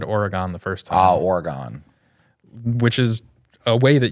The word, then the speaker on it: Oregon: It's gin. So like Gin. Gin. Oregon. As in like begin. Oregon. What were you saying, though? I think I said Oregon the first time. Oh, Oregon.